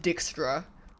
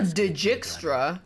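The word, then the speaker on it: Dijkstra: It is pronounced Dickstra. Is what they say true. Not. It's definitely not Djra.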